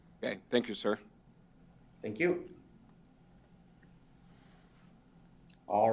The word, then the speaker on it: ES: And again, we have the score sheet and the regrets and congrats letters with it's ES Architecture, but they pronounce it S Architecture, being the selected firm.